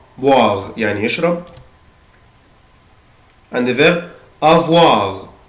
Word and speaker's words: boire: عود نفسك الاو اي او الاو اي بالانجلش بنطقها وا، boire يعني يشرب.